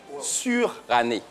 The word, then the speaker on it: suranné: Surannée. Voilà, surannée. Voilà, c'est une année sûre.